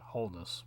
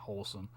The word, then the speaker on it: Holness: holen or uh yeah holen I want to say I w't say it correctly yeah holness my bad not wholesome holess detective holess which